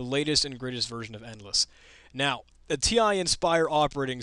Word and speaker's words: Ndless: to google and uh endless is spelt without an e in this case because it's some software for the ti n spire that doesn't have an i to inspire and the this is not spelled with the e for endless it's just n d l e s s endless and uh you'll notice